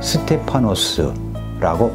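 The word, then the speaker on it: στέφανος: 하나는 왕이 쓰는 왕관, 또 하나는 승리자에게 주어지는 왕관, 스테파노스라고 발음되며 주로 승리의 화환이나 월계관을 의미합니다.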